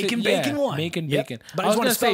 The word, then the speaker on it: MAKN BAKON1: I want to say Making Bacon one. Making Yep. Bacon. But I was want going to to say spell it for Mac people, and you know?